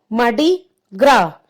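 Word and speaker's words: Mardi Gras: So your answer is मार्डी ग्रा। इसमें देखिए स्पेलिंग में ग्रास है, GRAS। सो in this spelling S is silent. We will pronounce मार्डी ग्रा।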